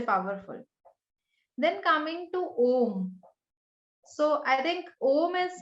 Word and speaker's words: Om: in the universe was om and it has like three syllables so a represents a represents the waking State or the beginning oh U represents the dream state or the middle and M States a deep sleep State on the n